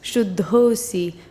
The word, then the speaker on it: Shuddhosi: And then when that meets an Asi, which is you are, the Visarga turns into an O. So the Shuddha Asi becomes Shuddhosi for ease of pronunciation.